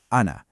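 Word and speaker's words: أنا: If you stop on it, you say ana, but if it's in a sentence, that final alif just disappears.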